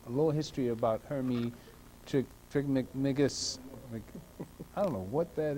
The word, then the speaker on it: Trismegistus: Trismegistus. Pronounce it for me, please.